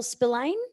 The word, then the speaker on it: Spillane: Next presentation, my friends, is with Kylie Tune and Spillane.